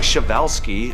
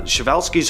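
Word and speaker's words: Przewalski: So, pronounce something like Shavevelski. Uh, Shiovelski's horse is a prehistoric looking beast that once roamed the steps of Central Asia.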